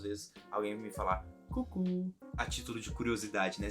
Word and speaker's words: coucou: Essa palavra que eles ensinam, esse C-O-U, que no caso é cucu, eu juro pra vocês,